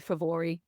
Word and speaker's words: Fomorians: In Jack, who is the king of the Fomorians, the Favori, as they should be pronounced in the in the correct tongue, who are the kind of the monstrous race who do battle with the Tuatha Danann.